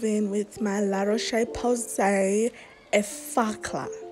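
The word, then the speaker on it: Effaclar: Next, of course, I move in with my La Roche-Posay Effacla. It's called Effacla. OMG, this time I pronounced it right.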